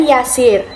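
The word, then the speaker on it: يسير: Nah, perhatikan ya teman-teman, di sini ada dua kata yang pengucapannya itu mirip, asir dan yasir. Nah, perbedaannya adalah kata pertama ini menggunakan ain dan kata kedua ini menggunakan huruf ya.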